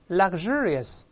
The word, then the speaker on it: luxurious: 发音变了这个 x 在这发 gz 大声来一遍 luxurious 名词是 luxury